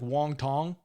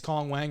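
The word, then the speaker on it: Wang Cong: And I know a lot of people will try to pronounce Kong Wang as like Wong Tong. Not going to do that here. Okay, it's Kong Wang or Wang Kong.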